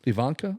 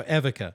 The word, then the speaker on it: Evika: Ivanka or No, Evika.